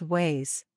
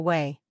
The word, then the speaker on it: ouais: This French phrase should be pronounced as s'il vous plaît. Part 2 Slang Yes. 1. Casually respond with ways.